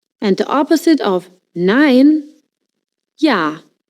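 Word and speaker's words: ja: Yah. J in German always pronounced like English Y.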